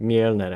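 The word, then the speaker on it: Mjölnir: And if I do get a trident, I'm gonna call it Mjolnir. Or Mjolnir, actually. Because that's the Swedish pronunciation of Thor's hammer.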